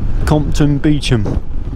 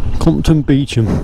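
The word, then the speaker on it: Compton Beauchamp: But it's pronounced Compton Beecham. There it is, look. Compton Beecham.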